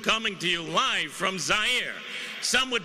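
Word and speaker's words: Zaire: Howard Kosell coming to you live from Zire. Some would pronounce it Z.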